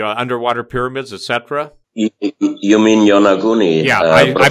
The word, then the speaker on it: Yonaguni: people you've come into contact with brought up Yanguni off of Okinawa? The Yanguni, the underwater pyramids, etc.? You mean Yonaguni? Yeah, I pronounce it different, yeah.